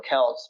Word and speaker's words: Celts: Originally, they were Celts or Celts. People are telling me I should say with a hard C.